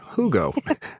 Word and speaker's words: Hugo: Hugo. Hugo. That's how you say it in Cuba.